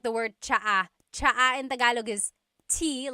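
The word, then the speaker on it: tsaa: tea that you drink, and it's spelled ts aa. Cha. Cha. That's such a Tagalog spelling. I love it. There's the ts sound and then the double vowel uh pronunciation.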